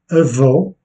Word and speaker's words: avó: Et on dit cela lorsque l'accent est placé sur la dernière syllabe, comme avó, grand-mère, phénoménal, phénoménal.